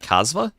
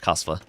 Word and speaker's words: Kasva: Most casters say Z instead of S. Like Kazva. No. No. Kazva.